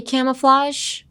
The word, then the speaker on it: camouflage: When you say camouflage, like when you're practicing your pronunciation, like cama, your face is gonna look very stupid, but なんだろう、下顎だけ動かしてください。Just use your lower jaw, like camouflage.